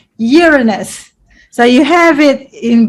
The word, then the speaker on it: Uranus: I try to remember how you pronounce it, the Australian way, Uranus.